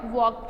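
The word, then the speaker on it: walk: Doubt, could, could में है L, doubt में है B साइलेंट वर्ड, वॉक में है L साइलेंट वर्ड।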